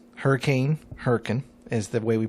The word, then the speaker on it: Hurricane: that are named Hurrican Hurrican hurric name hurricane hurrian is the way we pronounce it in West Virginia hurricane and a